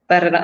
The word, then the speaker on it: Paralejas: Paralejas. Oh, you gotta do it with that little tongue, right?